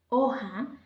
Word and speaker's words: hoja: Una hoja, ¿cierto? Y hoja será ¿cómo? ¿Con H o sin H? Muy bien, ¿cierto? Esta aplica para lo que hablamos anteriormente, ¿cierto? Hoja lleva H, que aunque no suene esta letra, sí estamos formando una sílaba.